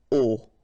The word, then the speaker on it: au: You write it au, you pronounce it o.